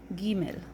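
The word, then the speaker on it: גימל: to the next letter this letter is called gimel ghee mill the way it's pronounced is yeah like I'm going somewhere yeah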